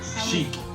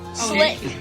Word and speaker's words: Sliick: That's not how you pronounce Sliick. it. Sheik. Slick. I believe it's sheik. It's SL, not SH. It's not SL, not SH.